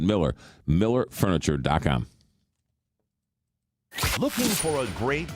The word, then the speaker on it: Mueller: Looks like Mueller, but you pronounce it Miller.